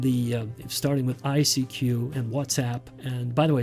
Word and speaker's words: WhatsApp: that all of the starting with ICQ and whatsapp and by the way it's pronounced whatsapp not what's up what's up means hello and whatsapp means it's